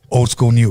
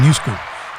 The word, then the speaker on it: OldSkoolNu: mess up her name old school new what's going on did i say it correctly yeah you said it correctly i don't know i want to say keep saying new school a lot of people do a lot of people